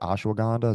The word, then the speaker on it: ashwagandha: eat them and I know Ash is it ashwagandha is that how you pronounce it yeah yeah yeah I know that